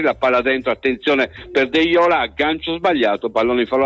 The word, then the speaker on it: Deiola: di Dossena il ripiegamento di deiola deiola l'ho pronunciato deiola ho detto quindi ricordatevelo il lancio lungo ancora